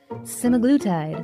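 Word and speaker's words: semaglutide: And yes, before anyone corrects me in the comments, I've heard simaglletide pronounced about six different ways. Simaglutide. Simaglletide. I'm sticking with simaglletide because it sounds confident and I fully accept that someone will tell me I'm wrong.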